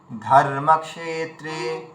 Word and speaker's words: ধর্মক্ষেত্রে: ধর্মক্ষেত্রে এভাবে বলুন।